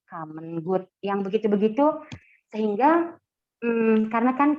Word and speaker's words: common good: common good common2 God itu bacanya bukan common good tapi komen good yang begitu-begitu sehingga karena